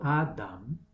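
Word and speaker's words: אדם: En hebreo, Adam, pronunciado Adam, Aleph, Dalet, Mem.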